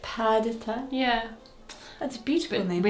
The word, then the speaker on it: Perdita: Because it's purr. Yeah, like Perdita. If you get it from a shelter, Yeah, that's true. and you call it Perdita, Yeah.